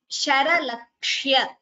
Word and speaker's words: शरलक्ष्य: Sharalakshya. Again this word, please note the pronunciation. Sharalakshya. Sha, ra, la and kshya.